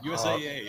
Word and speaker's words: USAA: USAA. It's pronounced USA, right?